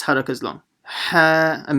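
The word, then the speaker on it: ح: Ha, and make sure you pronounce the ha from the middle of the throat.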